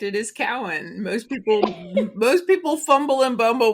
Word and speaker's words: Cowan: It is Cowan.